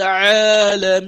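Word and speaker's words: العالمين: So you say, Alhamdulillahi Rabbil Alameen. So you see I elongated the Alameen. So that's a mad, we call it al-mad al-aridun lis-sukun.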